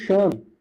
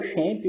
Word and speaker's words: XAMPP: Então, como servidor local, nós utilizaremos o XAMPP. A maioria das pessoas falam XAMPP, tá? Ou XAMPP, mas na verdade a pronúncia correta é XAMPP.